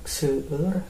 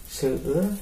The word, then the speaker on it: seueur: Cara bacanya loba artinya banyak. Seueur sama banyak ya.